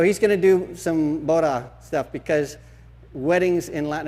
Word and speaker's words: boda: I think it's moda. No? Okay. Una boda. What moda? That's what I said. Boda. Boda, with a B.